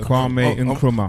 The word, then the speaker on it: Kwame Nkrumah: Yeah, and obviously people would tell You said his name wrong. I just want to Kwame Nkrumah.